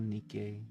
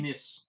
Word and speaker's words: Nice: Yeah, still have fond memories of Nikkei.